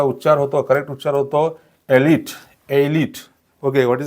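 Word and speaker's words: elite: इ अँड त्याचा उच्चार होतो करेक्ट उच्चार होतो एलिट एलिट okay what is द करेक्टिएशन एलिट एलिट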